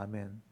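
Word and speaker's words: אמן: 보면 여게 아멘이란 말이야 아멘 알렙 눈 이래가지고게 아 발음이고에 발음이에요 그니까 아멘 이렇게 하는 거예요이 아멘이란 말이 확실하다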